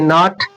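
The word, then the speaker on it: knot: के के से स्टार्ट होता है ना एन आता है तो के साइलेंट रहता है। लिखने में आएगा पर पढ़ने में नहीं आएगा। ऐसे ही नॉट नाइफ मतलब चाकू ऐसे ही नॉट के एन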